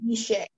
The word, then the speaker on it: guichet: Yes, guichet. Am I pronouncing it correctly?